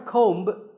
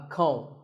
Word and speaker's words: comb: Not a comb, a comb.